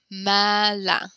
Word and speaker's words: malin: And Charlotte and everyone where you are, please repeat that last word after me. Malin. There you go. Good. That's a very commonly mispronounced word, but good job, Charlotte.